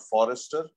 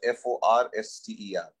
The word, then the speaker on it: Forster: So his actual name was Edward Morgan not Forrester, but Forster. So Forster is the actual pronunciation.